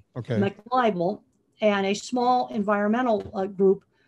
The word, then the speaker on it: McLibel: If you look up online, there's a lawsuit called McLibel. This would be back in the early 90s, McLibel. Spell that for us, Temple, so that we can. It's like muck, MC, and then the word libel.